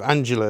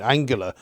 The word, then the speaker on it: Angela: that's absolutely right and i'm going to take your pronunciation of angela as correct because i've been saying angular all these years but i mean you